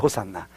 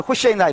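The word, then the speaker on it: הושענא: 네, 호산나요, 호산나. 영어식 발음이 호산나, 우리식 발음이 호산나고, 히브리어는 호시에나 이렇게 발음해요.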